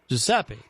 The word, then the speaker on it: Giuseppe: Giuseppe.